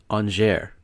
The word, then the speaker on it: Angers: I had to actually have to look up how to pronounce this. It's Angers.